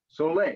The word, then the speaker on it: Soleil: Oh, It has an accent on it and it's pronounced How would you say it, Peter? Sole. Soleil.